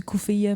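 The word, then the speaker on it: keffiyeh: Ben ça s'écrit kefillé mais en arabe je dis coufill mais c'est Ouais ouais coufill je sais dans si tu dis cfille personne va comprendre si tu dis qu'fier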